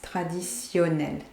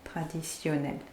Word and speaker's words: traditionnel: And traditionnel, that T here, that one here, is pronounced like a S, traditionnel, traditionnel.